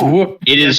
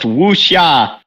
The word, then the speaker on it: wuxia: Wuxia. It's Wook. That is not how it's pronounced, Jaiden. I don't care. It is a Chinese term. It is pronounced wuxia.